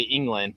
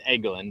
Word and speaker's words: Eglin: You always want to say England, but it's Eglin. There's no N in it.